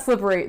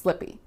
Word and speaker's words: slippery: It's not slippery. That's too many syllables. It's just slippy.